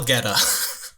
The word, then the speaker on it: Goetta: How do you spell Geta? You spell it Goetta. Okay. Yeah. Exactly how it sounds.